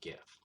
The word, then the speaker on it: GIF: But it's pronounced GIF, not GIF.